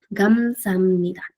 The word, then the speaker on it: 감사합니다: Ahora, nuevamente, si nos enfocamos en cada sílaba, va a ser gam, luego sa, luego ja, y luego el ni y el da. ¿Ok? Pero para que suene mejor, más fluido, se pronuncia 감사합니다. Si se dan cuenta, se juntan el sonido de muchas consonantes con vocales.